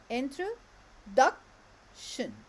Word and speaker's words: introduction: Introduction. Introduction, yes. And where is the stress? Duck. Duck, yes. In the third syllable.